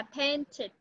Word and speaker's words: painted: Paint là sơn rồi, đã sơn thì thêm ed vào, đọc là painted. Được chưa? Và cái ed này con đọc là it, it, it.